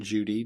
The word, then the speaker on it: Cudi: called Mount uh Judy it looks like Mount cudy but it's pronounced Mount Judy J Judi is the way it kind of